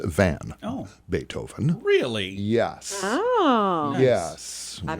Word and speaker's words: van: big time birthdays today ludwig van not vaughn it's van oh beethoven really yes